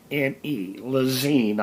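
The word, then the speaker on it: Lezyne: This pump here, and you can pronounce the name L-E-Z-Y-N-E, Lezine, I believe it is.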